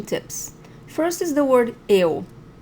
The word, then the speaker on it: eu: First is the word eu. So don't even look at the word right now, just listen to it. Eu. Okay, so not eu, not io, eu.